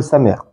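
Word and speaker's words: שם: Sam, vous retenez, ici c'est écrit Sin même. Mais ça se prononce aussi comme le Samer. Donc Sam, on dit comme cela.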